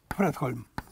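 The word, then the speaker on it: Fredholm: Вот шведский математик, ну, одну из имен, Йор Фредхольм. Ну, в классическом шведском ударение всегда на первом слоге.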